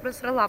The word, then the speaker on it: просрала: Если правильно, то просрала, потому что ударение на последний слог, женский род.